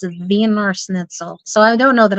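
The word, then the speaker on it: Wiener Schnitzel: it really good the vener snle vener snle place I tried saying it with a W and my mom goes no it's German it's VOR snitel so I don't know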